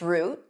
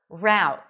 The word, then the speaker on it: route: This word is pronounced either with the tense oo as in food, root, let's take this root, or rowt. Let's take this route. Root, rowt. Both are correct.